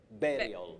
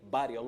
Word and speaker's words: burial: Betty, letter U in this word takes the sound A. Burial. We burial. don't say burial, which is very common locally.